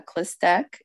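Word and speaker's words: Chlystek: testimony okay well my name is uh clistec and it's spelled c-h-l-y-s like Sam t-e-k and you know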